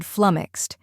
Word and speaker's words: flummoxed: let's break it down first we have flum which rhymes with bum and has a short u sound next is Ox which